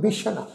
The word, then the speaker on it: बिशन: बिशन, ये शब्द है जी बिशन, सस्से पैर बिंदी लगा के उच्चारण करांगे जी।